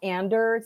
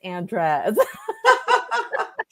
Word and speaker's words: Andres: I did that just so that's not Anders, it's Andres.